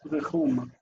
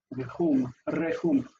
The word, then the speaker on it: Rechum: It's Rechum. Rechum. I need to start trilling my R's for Aramaic. I don't do it for Hebrew, but we need to do it for Aramaic. Rechum. Rechum is 2 syllables, re and chum.